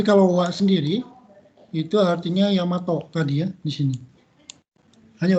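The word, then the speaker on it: 大和: Daiwa ini kadang-kadang dibaca Daiwa, tapi sebetulnya dibacanya Yamato.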